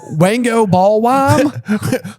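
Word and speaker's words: Wangoballwime: Won't go bowl me. The way it's spelled out. W A N G O B A L L W I M E. All one word. Wango ballwam.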